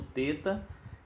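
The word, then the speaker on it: θῆτα: E aí nós temos o teta, que é representado pela letra TH, mas se pronuncia como se fosse T mesmo.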